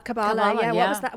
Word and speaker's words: Kabbalah: Well, you also mentioned in the book that you studied, I don't know how to pronounce it. Kabbalah. Kabbalah, yeah.